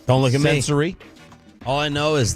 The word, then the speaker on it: Censori: Him and Bianca Censori, that's how you say it. Don't look at Sensory.